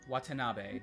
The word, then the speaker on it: Watanabe: How do you spell that? Enkai? Enkai, Enkai. Enkai. Got it. Watanabe, Watanabe.